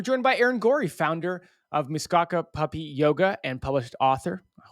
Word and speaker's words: Muskoka: It's Muskoka.